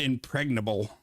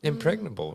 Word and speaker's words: impregnable: Yeah, I was wondering if you say the G or not, but yeah, you do.